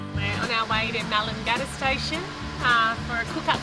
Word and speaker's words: Melangata: What's the pronunciation there? Melangata.